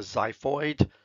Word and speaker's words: xiphoid: combination of called the xiphoid process that comes from the Greek that's why you pronounce that zu okay we can see